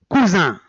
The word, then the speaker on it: cousin: Autre exemple, cousin. Même s'il est entre deux voyelles, on l'a prononcé zin.